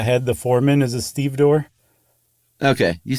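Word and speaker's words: stevedore: the foreman is a Steve door okay you said that earlier and I pretended like I knew what you meant so it's it's spelled exactly like it's pronounced too like and it's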